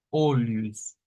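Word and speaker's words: olhos: los ojos y lo vamos a pronunciar como olius olus olus en es caso esa H como en otras palabras nos incorpora un sonido como de una y ahí en medio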